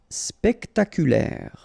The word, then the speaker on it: spectaculaire: Spectaculaire. Okay, so don't insist on the final E.